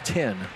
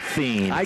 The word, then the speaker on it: Thien: I thought you told me before it was 10. In Fort Recovery, you pronounce it 10. In Minster, you pronounce it Thien.